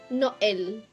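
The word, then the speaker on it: Noël: Hindi naman talagang kasi siya kasi yung trema na yon. Mm. Ibig sabihin you will pronounce the vowel in itself.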